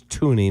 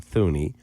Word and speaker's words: Thuney: First of all, it's Tooney, not Thuney.